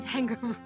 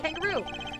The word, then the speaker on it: Tangaroo: E, it's the Samson Tangaroo, the singer, dancing, confectionery making sensation. Jeffrey. What shall we make today, kids? Aww. Yeah, it's spelled like kangaroo, like kangaroo, but it's Tang, like T-A-N instead of K-A-N.